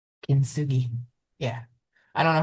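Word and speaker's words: kintsugi: Yeah, spell it. K I N T S U G I Kinsugi.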